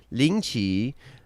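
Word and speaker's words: 凌迟: the first one's called lynchy um i don't know if the tones are right but the pronunciation is spot-on lingchi it's a traditional it's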